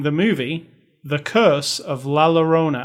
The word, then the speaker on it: Llorona: And this week, we are reviewing the movie The Curse of LLarona. How do you say it properly? LLarona. LLarona. LL is a Y sound.